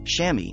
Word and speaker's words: chamois: Staying warm is also one of the reasons swimmers and divers use tiny towels called chamois, pronounced chamois, at major events.